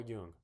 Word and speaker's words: Jung: Oh, Carl Jung. Carl Young. I'm sure a lot of you all watching this know who Carl Young is. Uh, his last name is Jun N. Carl Jung, but it's pronounced Young or something.